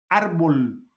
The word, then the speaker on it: árbol: Árbol. Árbol es una palabra grave. Lleva el acento en la última penúltima sílaba, árbol, y se le marca porque termina en L.